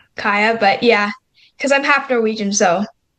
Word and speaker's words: Kaja: Kaja. Yeah. But the Y is pronounced as a J, so it's just Kaya.